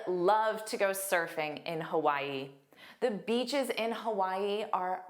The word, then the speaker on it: Hawaii: Again, there are three sounds. The first sound is unstressed. So, it's a hu and then Y is the stress sound and then a long e, but it's the unstressed sound. So, you'll hear why more. Hawaii. Hawaii. But make sure you get those three sounds.